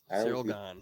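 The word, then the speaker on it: Ciryl Gane: How do you pronounce? It's Cyril. Cyril right? Gahn. Cyril. Cyril Gahn.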